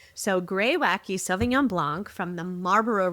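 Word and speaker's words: Greywacke: thought the name was Greywack but it's actually pronounced grey wacky which is on their website g r re r e y w a c ke. But you pronounce the e. So, gray wacky svenon blanc from the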